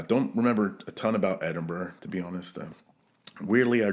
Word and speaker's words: Edinburgh: Irish fiddle tune um you're throwing the hard G in Edinburg yeah Edinburgh edin oh how do